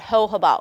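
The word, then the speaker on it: jojoba: also have something called ho ho ba oil sometimes people can't pronounce it but it's the Jo Jo ba so the J silent so ho about oil that is a great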